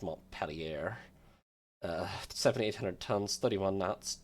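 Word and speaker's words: Montpelier: tons 31 okay they are American they're definitely pronounced M pelier uh 7800 tons 31 knots 12 6in guns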